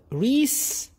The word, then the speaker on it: Reese's: هذا المنتج سمى شغله بالفي اس للملكيه فهو ريسز ريسز ريسز الاس لما تكون مع تكون زد